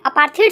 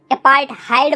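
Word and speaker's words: apartheid: System जो थी ना, अपार्थीड बोलो या फिर अपार्थहाइड बोलो यार, कुछ लोग इसको अपार्थीड बोलते हैं, कुछ लोग इसको अपार्थहाइड बोलते हैं, ठीक है। तो जो भी तुम्हें प्रोनाउंसिएशन सही लगता है यार वो बोलो तुम, ठीक है। मैं अपार्थीड बोलूंगा।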